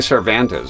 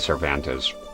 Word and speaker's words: Cervantes: I've been saying cervantes. Yeah. I said cervante for a while cuz I thought I was being a dumbass but then I was watching Maximleian dude uh doing the uh rate the fatals or whatever it is but and he said cervantes.